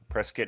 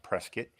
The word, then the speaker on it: Prescott: Oh, I'm in I'm in Prescat, Arizona. Prescuit. It's spelled Prescott, pronounced Prescuit.